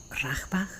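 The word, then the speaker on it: Bachrach: encanta que se llama ágilmente él es Estanislao rasbach así se pronuncia este y es super interesante lo retomé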